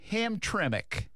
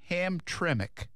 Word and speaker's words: Hamtramck: The town is Hamtramck. Hamtramck. She actually gave me a pronunciation.